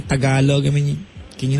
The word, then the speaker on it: Tagalog: you all right so stop saying t galog right It's Tagalog tagalo okay Don't say balot